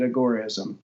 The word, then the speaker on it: Agorism: So Sam Konkin called it Agorism. So I spell that as Gorism, like Al Gore.